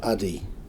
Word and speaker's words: Adi: How is it properly pronounced? It's Vive and it's Adi.